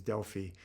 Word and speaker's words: Delphi: the Oracle at Deli the British pronunciation is Deli but the Oracle at